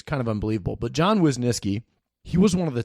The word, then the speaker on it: Wisnieski: Wisniewski and I recently realized that I've been pronouncing his name incorrectly for a long time I've always been calling him John Wisniewski with a W in the name and I